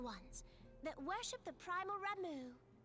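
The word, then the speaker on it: Ramuh: They look like Gisselcreens, floating ones, that worship the primal Ramu. Oh, it's Ramu? I've always pronounced that as Rama.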